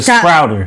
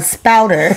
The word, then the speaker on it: spouter: The first one is the sprouter. The what? The sprouter. The what? Sprouter? Sound it out. It's called a spouter.